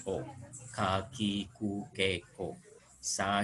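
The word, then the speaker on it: を: Hanya ini dibacanya nanti O, bukan wo ya. Dibacanya O.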